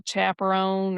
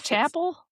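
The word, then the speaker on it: Chappell: El Chaperon or Chaperon. How do you say her name? Chapel Road. Oh, that's it. Chapel. It's Chapel like a church.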